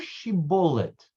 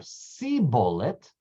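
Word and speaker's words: shibboleth: a more she bullet say the word she bullet if he said see bullet if you use it changes the shin to a sin ACH and he was unable to pronounce she bullet correctly or then they would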